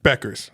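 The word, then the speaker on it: Bueckers: went for 40 That was for Buchers. UConn. No, it's spelled that way. That's why I always said it. It's Beckers.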